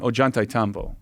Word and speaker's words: Ollantaytambo: Ollantaytambo. Ollantaytambo. How do you spell it?